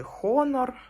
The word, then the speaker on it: Honor: Спочатку я хотіла купити Honor Honor 90 або Honor 90 ж у Франції буковка F не вимовляється і оце я дивилася